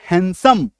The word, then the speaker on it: handsome: ठीक है, HANDSOME, डी के बाद एस, तो डी को काट दो। आपको ये चार चीज याद रखना है, GNSW डी के बाद, तो इसका क्या उच्चारण होगा, हैंडसम, हैंडसम नहीं बोलेंगे, हैंडसम नहीं बोलेंगे, हैंडसम।